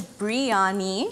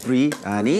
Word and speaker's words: biryani: Okay, so there's biryani. Biryani. Biryani, so B-R-E. And then there's also biryani. Biryani.